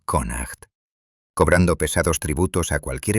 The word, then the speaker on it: Connacht: Durante varias generaciones habían controlado firmemente las peligrosas bahías de la región de Connacht, pronunciado Conacht, cobrando pesados tributos a cualquier embarcación que se atreviera a cruzar sus aguas territoriales.